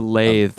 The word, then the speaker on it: lathe: A lathe, right? Yes, Lathe. Is that it? I think that's how you spell it. For woodworking, just to be clear. Okay, yeah, I didn't get the TH sound in there, so I thought you